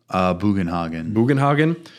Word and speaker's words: Bugenhagen: Bugenhagen.